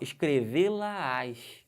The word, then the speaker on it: escrevê-la-ás: Agora, dá um detalhe nessa pronúncia, como é que fica aqui, ó, escrevê-la-ás. Perceberam que tem uma subida de tom?